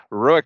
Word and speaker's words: ROEQ: Just so you know, what does ROEQ stand for, and it's pronounced ROEQ, robotic equipment.